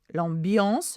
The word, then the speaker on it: ambiance: Donc, l'ambiance, again, same pronunciation as EN, the ambiance or the atmosphere à la maison, one S is a Z sound, n'est pas toujours simple.